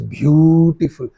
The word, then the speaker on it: beautiful: You don't say beautiful, she is very beautiful. Don't say beautiful. You must give proper accent, proper stress on that word. You must say she is beautiful. Long syllable. Long syllable or stressed syllable is called, what is that?